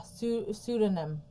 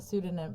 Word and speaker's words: pseudonym: Yeah, the P is silent, like in Psycho.